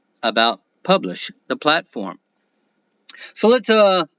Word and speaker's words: Publish0x: crypto social platform publish it is pronounced publish but it is spelled publish zero X and you can find